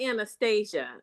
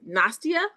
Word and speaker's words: Nastia: now, it's not Anastasia, but that's what I can pronounce. Anastasia. Yeah. Pronounce your name for me again. It's Nastia. Yes, correct. Okay, Nastia.